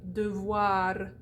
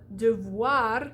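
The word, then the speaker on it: devoir: you got it we also do the schwa at the end of syllables that are not word final so a word like de voir de voir which means should or must so de voir you get de voir i also noticed i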